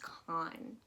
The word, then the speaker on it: Khan: But what you kind of want to remember as that is like how Americans pronounce the last name Khan, K-H-A-N. So it's just Con.